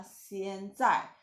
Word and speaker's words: 现在: Waktu Anda pronounce 现, lidah di bawah, 现在.